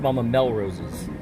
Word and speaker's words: Melrose's: It's Mama Melrose's. Did you really just say the emphasis is on the first syllable?